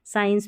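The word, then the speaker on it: science: SC को स्क और स पढ़ते हैं, जैसे स्कूल में स्क पढ़ा, साइंस में स पढ़ा, क्योंकि C साइलेंट है इसलिए।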